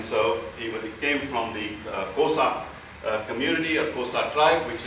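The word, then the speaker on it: Xhosa: tribal chief and so he came from the kosa community or kosa tribe which is a fairly large one it is it is spelled x h o s a and uh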